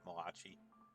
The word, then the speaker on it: Malachi: and I'm thrilled to i'm gonna pronounce it malachi i hope someone doesn't get mad at me i don't pronounce it according to the pronunciation of the great italian prophet mulashi malachi and i'm gonna just